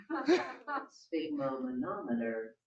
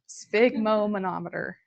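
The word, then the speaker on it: sphygmomanometer: how to say the word because monometer spigo monometer spigo monometer you can also just say blood pressure cuff I love that okay spigo monometer okay perfect so we can take a blood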